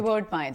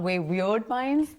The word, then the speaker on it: Wayward Pines: Wayward Pines. It's not Weird Pines. They're not weird. They're Because just we say Wayward. that on set all the time.